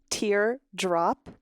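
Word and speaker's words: T*DERE: so here's the group capital t asterisk d e r e pronounced tear drop we are a nine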